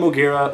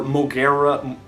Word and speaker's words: Moguera: I'm talking about but I call him mogera or moguera mogira however there's different ways to pronounce his name but uh so one